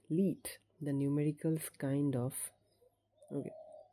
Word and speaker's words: 1337: He decided to use a meme from the world of coding and call it 1337. Pronounced Leet. The numericals kind of look like those letters.